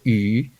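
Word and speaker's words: 餘: Okay, it's pronounced yu. Sounds, it's similar sound to fish.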